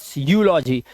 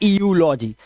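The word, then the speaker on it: eulogy: क्या है, Europe, and ईयू यहां पर भी है यूलॉजी, ना कि ईयूलॉजी, इट्स यूलॉजी, ठीक है, यूलॉजी।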